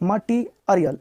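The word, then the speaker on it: material: मटी मटीरियल मटेरियल नहीं बहुत लोग मटेल यहां पे इ अ देखो इ अ टी में इ लगा है इ अ तो मटी अरियल मटी अरियल मटेरियल मतलब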